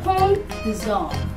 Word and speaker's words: Pont des Arts: Pont des Arts. Okay, in French you don't pronounce the S and the T and the S, so you say Pont des Arts.